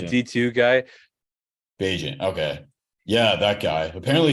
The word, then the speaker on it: Bagent: Bagent.